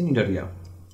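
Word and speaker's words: Cnidaria: বানানটাই একটু সমস্যা আছে প্রথমে সি নিডারিয়া আছে হ্যাঁ সি এর উচ্চারণ কিন্তু এখানে হবে না হবে হচ্ছে নিডারিয়া তো নিডারিয়া দেখো এরা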